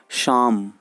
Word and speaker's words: Psalm: of life on ए पी यहां silent है और एल्बी साइलेंट है तो पीओएल को अगर साइलेंट कर देंगे तो हम इसे क्या पढेंगे शाम तो हो जाएगा दशा